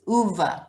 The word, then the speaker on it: Ove: book and he said it's uva like hoover oh that was a